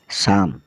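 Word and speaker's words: psalm: हैं अगले alphabet P की ओर जिसमें पी साइलेंट रहने वाला है सबसे पहले हम बात करें पी एस ए एल एम मम मम मतलब भजन पी एन ई यू एम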